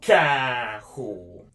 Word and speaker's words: carro: Carro. Carro, which is with the hard C. You can pronounce it like a K sound.